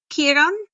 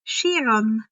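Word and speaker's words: Kheiron: you um you work here Mr no um Kiran I thought that was pronounced shiron oh yes that's how many pronounce my name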